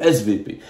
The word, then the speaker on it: SWP: le SWP en allemand le W se prononce V le svp le institut institut allemand